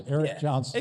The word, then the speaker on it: Aeriq Jonsin: A I R E Q J O N S I N. Yeah, just like it sounds, Aireq Johnson.